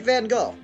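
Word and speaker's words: Van Gogh: always been that way look at Van go or van go depends on your language in which you pronounce it here we have a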